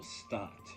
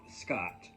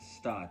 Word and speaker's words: Stott: And this is by Raymond Toole Stott, not Scott, which is often mispronounced, but Stott, S-T-O-T-T.